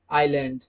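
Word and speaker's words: aisle: example island आइल आइल दोस्तों ए आई एस एल ई ये वाला और आई एस एल ई ये वाला इन दोनों का प्रोनंसिएशन सेम है आइल आइल ओके क्योंकि एल से पहले एस आ रहा है तो इस वजह से एस को साइलेंट रखा जाएगा रूल के मुताबिक ओके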